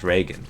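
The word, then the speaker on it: Regen: I put a stream it's pronounced Regan break that's rain isn't it in German so I mean they've even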